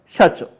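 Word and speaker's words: 社長: 그 다음에 샤초 사장님이 계시고 샤초 이 샤초인데 한국 사람 일본 잘못 배워 사초 하는데 친구들이 너무 많아. 일본은 뒤에 들으면 사초가 우리가 한국말이 사잖아. 그러니까 연애마다 그렇게 되는 겁니다. 샤초 발음 잘 하세요. 발음 연습 일본어 하시는 분들은 발음 연습 잘 하셔야 됩니다. 샤초 샤는 이 박이 하나이기 때문에 짧게 샤초 해보세요.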